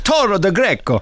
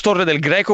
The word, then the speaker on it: Torre del Greco: First of all, it's Torre del Greco, which you said very nicely.